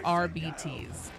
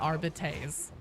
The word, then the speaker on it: Arbites: commonly mispronounced words, and their official stance on the pronunciation is RBTs, not Arbites. I know, like I said in my video, I don't like it any more than you guys do, but that's how it's said.